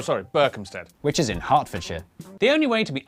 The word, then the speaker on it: Hertfordshire: Southwark, ER is pronounced R. Berkshire, Clerkenwell, Hertfordshire.